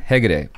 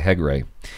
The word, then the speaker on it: Hegde: Hegde. I was going to say Hegre.